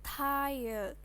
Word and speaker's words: tired: yang tahu udah kebayang membacanya nya tired tired Kenapa membacanya tired karena i dalam bahasa Inggris itu dibacanya I ini kan Makanya Ini bacanya